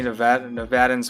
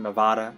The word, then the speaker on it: Nevada: Sorry for any Nevadans watching out there. Sorry for mispronouncing Nevada. It's not. They get mad. Nevadan natives get mad when you don't pronounce the state right. It's Nevada. It's not Nevada.